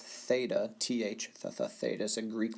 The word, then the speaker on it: theta: 45 degree angle as a reminder this is pronounced theta th the theta sin Greek letter represents the